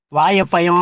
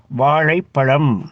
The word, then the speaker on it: வாழைப்பழம்: வாயப்பயம் அப்படி சொல்லக்கூடாது, வாழைப்பழம் அப்படி சொல்லணும், பள்ளி அப்படி சொல்லக்கூடாது, பள்ளி அப்படி சொல்லணும்.